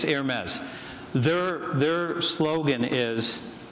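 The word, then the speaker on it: Hermès: here will correct me I think it's called air maze is that it the brand somebody confirm or deny that for me do you know how to say it Hermes okay it's Hermes their their slogan is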